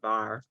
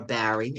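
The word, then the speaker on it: Barre: and BCBS being in Bar, or Barry, as some people pronounce it, are being very generous in offering programming specifically created, designed, and supporting the fellows.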